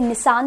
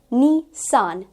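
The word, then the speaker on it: Nissan: हम इसे निसान सुनते हैं but that's incorrect, it इज निसान, that is going to बी the correct pronunciation.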